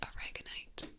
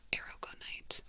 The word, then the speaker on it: aragonite: is pretty this is if I'm going to say it like you would say the uh the spice this is orgonite but aragonite era goite a r a g o n I see aragonite aragonite but this is